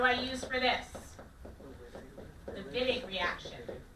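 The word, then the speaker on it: Wittig: use for this the viig reaction got to say it like a true German come on a big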